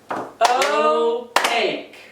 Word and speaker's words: opaque: Opaque. Oh, it kind of sounds like okay. It's real similar, but it's spelled a whole lot different.